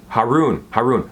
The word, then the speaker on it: Haroon: Haroon rhymes with maroon, sorry.